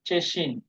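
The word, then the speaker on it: Tschechien: দেশ আছে ইউরোপের মধ্যে ছোট্ট একটা দেশ ওইটার উচ্চারণটা হলো চেসিন এই টি এস সি এইচ দিয়ে আসে উচ্চারণটা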